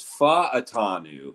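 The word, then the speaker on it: Fautanu: by like everybody but I'm actuallyy about the pronunciation guide so it's fa atanu yeah I was I told Tai one time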